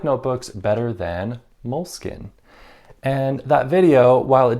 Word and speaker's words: Moleskine: Now you'll notice that I've changed my pronunciation from Moleskine to Moleskine, basically just because that was the most common recommendation I got for how to pronounce Moleskine. And I feel like I will be better understood and less hated if I say Moleskine.